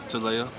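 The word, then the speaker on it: Talayah: girl 6 months 6 months what's her name TOA TOA yeah spell that one t a l a y a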